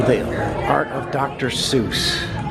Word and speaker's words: Seuss: are art of Dr Seuss not a lot of people know that he actually pronounced his name soy true story look it